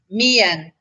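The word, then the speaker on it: មាន: Okay, so MEAN is pronounced Mian. So you pronounce the E and the A, Mian, and that means I have.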